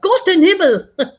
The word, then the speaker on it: Gott in Himmel: You got to say it right. Like Gott in Himmel.